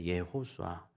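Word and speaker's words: יְהוֹשֻׁעַ: 때 이해수수가 된 거고 원래 히브리어 다루는 예호수아입니다 예호수아 그런데 그거를 이제 헬라어로 번역할 때 es가 됐고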